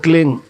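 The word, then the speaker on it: क्लीं: बिंदी इसकी ध्वनि निकलेगी ग से क्लिंग क्लिम में नहीं संस्कृत में क्लिम होता नहीं क्लिंग अंग का उच्चारण होना पड़ेगा एक क्लिंग को जपने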